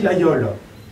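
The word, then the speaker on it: Laguiole: de gammeu près nor qu'on prononce ici Lao même si ça s'écrit la guole on a gardé tout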